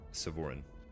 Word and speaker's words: Sevhorin: always played with was a elf paladin named Sevoran. But it was spelled like Sevhorin.